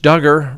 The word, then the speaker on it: Duggar: and then we have josh duggar rhymes with hugger he got sentenced today